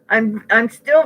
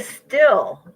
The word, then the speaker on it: STIHL: I watched YouTube videos, and then my brother came over, and he said, buy a still or steel. Am I pronouncing it right? A steel, STIHL, and that's a brand manufacturing name for a weed whacker.